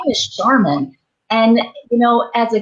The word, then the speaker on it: Sharmin: I think I pronounced it Charmaine, but it's Sharmin. Sharmin.